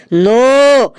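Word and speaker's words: know: কে এন ও ডব নো। এখানে কে এর উচ্চারণটা মুখে হবে না।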